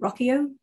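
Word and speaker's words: Ruocchio: Christopher Rocchio, I think is how you say his last name.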